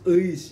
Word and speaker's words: Eis: Ini bacanya harus Eis ya. Nah, karena seorang Jawa jadi kadang-kadang nggak pas. Eis. Ya, bukan Eis ya. Beda.